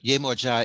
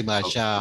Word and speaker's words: Yemoja: And so yes, but Yemoja is a different, or okay. Yemaja, oh, okay. Or some people say Yemaja is a different divinity.